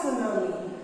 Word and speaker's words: tsunami: Look at the spelling of tsunami. It always begins with T, and T here is silent.